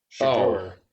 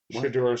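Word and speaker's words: Shedeur: Shador. Yeah, probably. His son's getting drafted this year. So he's going to drop Scoot. You said his name? Shador Sanders.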